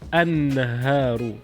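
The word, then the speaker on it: النهار: Noon is a sun letter. Example of a word that start with noon is naharun, means day. So when you introduce a definite article is an-naharu, means the day.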